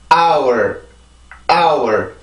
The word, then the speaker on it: hour: 이것도 자, 이 단어를 읽을 때 학생들이 hour이라고 읽는 경우가 많이 있어요. 근데 H 발음을 읽어서 그런데 이 경우는 묵음입니다. 묵음.